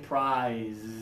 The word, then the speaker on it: prize: your hand up here but this one has vibration prize feel the vibration okay probably got Andersson